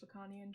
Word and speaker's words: Lacanian: to exemplify the transition from desire, in which Lacanian terms is desire, to drive, and enjoyment through failure.